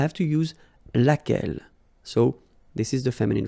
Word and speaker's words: laquelle: So basically same rule, QU, U is not pronounced here. And then you've got this double L-E. Well, phonetically here, it is the same as what we have here. So, laquelle.